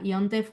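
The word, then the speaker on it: יום טוב: O sea, Yontef, o sea, se escribe Yom Tov, pero se pronuncia Yontef como Ah, Shabbat, se pronuncia bien.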